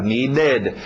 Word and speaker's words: needed: Embora na escrita aqui nós estamos acrescentando ED, na pronúncia você está acrescentando 3 sons. Ou o som de um T, ou o som de um D, ou o som de um ED, ou mais ou menos um ID para nós, um ID.